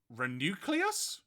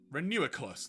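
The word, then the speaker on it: Reuniclus: a molola, the palendrome Pokemon because you can spell it both ways the same. Fun fact. Oh god. Uh, Renucleus. No, Renuiculus.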